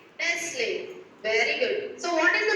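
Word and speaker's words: Nestlé: brand name Let's Play t is silent yes what is the brand name Nestle very good so what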